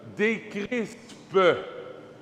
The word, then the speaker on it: décrisper: Jésus dit non, non, décrispe. J'ai bien prononcé, mais ça pourrait. Pas IST, ISPE, décrispe.